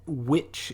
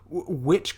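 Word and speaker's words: Wych: From what I could gather from the internet, witch is how you pronounce his first name.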